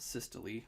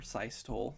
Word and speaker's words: systole: these things so atrial systole or sie stole depending on how you like to pronounce that is when both atria